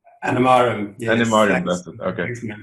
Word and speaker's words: Animarim: Is that the right pronunciation? Animarim, yes.